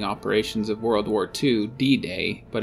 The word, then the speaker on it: D-Day: of world war ii d-day but it's pronounced like bidet which is again water related okay the nagas see